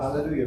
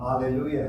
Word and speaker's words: Alleluia: this is following um Alleluia has four syllables I'm sorry five syllables yeah five syllables we're used to an English um so uh we